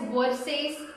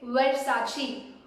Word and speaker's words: Versace: This one you might call it as Versace, Versace. The correct way is Versace.